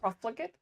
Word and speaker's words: Profligate: Proflegate. Proflegate. Okay, that's how you pronounce it.